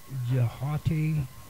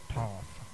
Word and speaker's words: Thoth: Thoth, perhaps pronounced Jahati or Thoughty. I call him Thoth. I've heard other people call him Toth, but I call him Thoth just because that's the way it sounds.